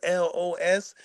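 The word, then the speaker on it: Ellohess: Greg the Great versus L O S. Spelled phonetically, not spelled like the letters. E L L O H E S S.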